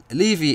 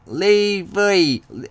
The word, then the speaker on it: Lavery: than the others ah hey levy it's Lavery okay levy levy lunch